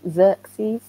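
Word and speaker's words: Xerces: And they've linked up with another charity in America, which is called, I think, Xerxes, I think it's pronounced, X-E-R-C-E-S.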